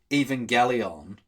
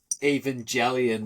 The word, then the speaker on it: Evangelion: So I've always thought it was pronounced Evangelion. Yeah. But then the song Lost by Bring the Horizon, he has that line where it's like, watching Evangelion with a big fat slug of ketamine.